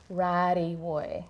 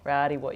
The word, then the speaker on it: Rarriwuy: Rarriwuy. Rarriwuy. You got to kind of roll that middle bit.